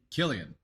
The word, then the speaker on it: Cillian: is it Cillian Murphy is that how you pronounce his name Killian Killian Murphy yeah he's he's super talented guy